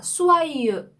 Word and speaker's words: soyeux: 그런데 이 수아유의 이 발음은요. 좀 작게 벌린 오 입술을 한 상태에서 입 앞쪽에서 나는 좀 작게 벌린 에 발음을 할 때 나는 소리입니다. 그래서 이런 발음이 되거든요. 그래서 수아하고 그 다음에 이렇게 되는 거죠. 그래서 수아유 이렇게 발음을 하시면 돼요.